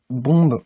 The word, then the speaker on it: bomb: n b par contre niveau de prononciation vous allez dire bon vous allez pas prononcé le bernardin d'accord on fait attention